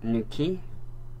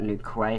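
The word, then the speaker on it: Newquay: New key. I believe that's how you pronounce it, is new key. Not new quay, how I used to pronounce it.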